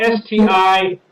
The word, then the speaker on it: Sticke: pronounce this wrong, but it was spelled S-T-I-C-K-E, but they pronounce it Sticke.